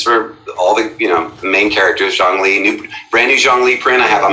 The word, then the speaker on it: Zhongli: I mean, apparently, in the original dialect, it's a little different, but it's Zhongli. Zhongli.